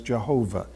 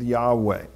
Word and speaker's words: Yahweh: was to be pronounced for many generations people pronounced it as Jehovah recent generations looking at the Hebrew and so on came up with Yahweh and so today that is considered the way to pronounce the personal name of God but the Jews in